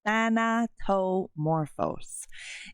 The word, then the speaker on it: Thanatomorphose: yeah than tomoro so if you're having a hard time trying to say it that is how you say it than to morphos it is a crazy